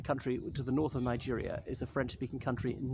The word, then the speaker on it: Niger: to the north of Nigeria is a french-speaking country in new GA okay ni ger single ji pronounce the soft G but people see that